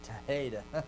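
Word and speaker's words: θήτα: You might learn theta and say theta, but think taheta.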